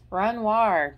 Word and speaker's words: Renoir: Why can't I pronounce that? Renoir. Jeez, like the painting.